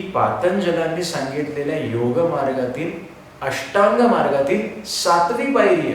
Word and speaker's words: योग: ए लावतो, तर ते योगचं स्पेलिंग इंग्लिशमध्ये करताना योगा असं झालेलं आहे. पण खरं तर तो हिंदू धर्म प्रमाणे इट इज अ योग.